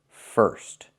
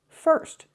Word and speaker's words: first: I need to use the sound like in burger. It's more closed. It's the pure R sound. First. First. This is correct. First. This is the correct pronunciation.